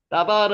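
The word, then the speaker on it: דָּבַר: 따바르 한번 해보세요. 따바르는 우리가 잘 아는 내용이죠. 따바르. 따바르를 나바르, 따바르, 나바르, 하고요. 따바르라고 읽어도 상관없습니다.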